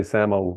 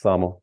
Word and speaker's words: Samo: Usually people say Samo, but it's Samo.